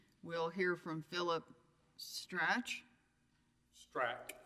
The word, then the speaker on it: Strach: Strach, like a K. Strach. Like a K on the end.